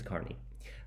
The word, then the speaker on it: Carney: Then number 4, we have Isabella Carney, which I would pronounce Kearney, but apparently it's Carney.